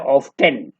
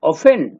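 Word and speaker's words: often: में लग रहा है ऑफ्टेन, my brother and आई ऑफ्टेन play chess, लेकिन यहाँ पे टी साइलेंट है और हम लोग पढ़ेंगे my brother and आई ऑफेन play chess.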